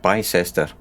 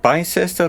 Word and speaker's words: Bicester: next one okay right right away next up bicester so is it bicester or bister i think we used to call it bister